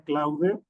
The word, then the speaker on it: Claude: Eh, hay una que se llama Clouder, lo pronuncio así para que se entienda cómo se escribe. Cloud seguramente se pronuncia.